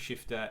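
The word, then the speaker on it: SH1FT3R: races of shifter and it's we know it's pronounced shifter but it spelled like it was on a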